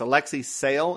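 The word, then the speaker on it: Alexei Sayle: is played by alexa i think it's alexi sale is how you pronounce his name i actually knew this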